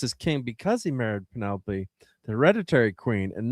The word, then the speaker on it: Penelope: Penelope.